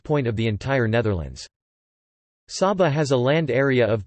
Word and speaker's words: Saba: Saba, Dutch pronunciation, Sa-ba, is a Caribbean island which is the smallest special municipality officially public body of the Netherlands.